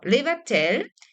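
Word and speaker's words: לבטל: understand the pattern, and the pattern tells you what the pronunciation is. So levatel, and present tense is mevatel. It's so super easy. PL is great. Levatel, hu mevatel. He מבטלת, הם מבטלים, הן מבטלות.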